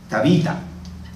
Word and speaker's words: Tabita: arameo y que así como lo escuchamos se pronuncia tabita y que traducido al griego es dorcas Pues